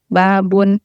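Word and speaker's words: باب: Misalnya demonstrasi pengucapan kata yang benar, kosakata yang benar, misalnya babun, ya ba-nya itu harus panjang, tidak pendek.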